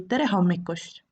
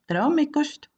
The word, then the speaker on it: tere hommikust: the morning then say trejo mikus we often say it as one word trauma costs also you might just